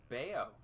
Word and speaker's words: Bello: support nope nothing nothing it's pronounced beo have I been saying it wrong this whole time Brian beo well I say it